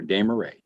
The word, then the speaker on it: Desmarais: It's like I tell my students, Judge, it's hooray for Desmarais.